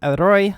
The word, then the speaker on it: E-Roi: Um, like they said, YouTube and Twitch, they go over how to pronounce it, which is Eeroy, like erotic in Japanese.